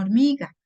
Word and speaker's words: hormiga: escribe con esta otra por qué se escribe con h porque esta H no habla es muda entonces aquí usted justifica